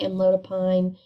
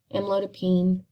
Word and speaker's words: amlodipine: also hear amlodipine and any drug that ends in pine or i say it as peen you can say amlodipine amlodipine um it really just goes by where you're from and how you say it um but usually your